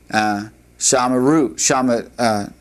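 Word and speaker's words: שמרנו: This aligns itself with a knock new, and if you wanted to say we have kept, you would say shamarnu, shamarnu would be how that would be pronounced.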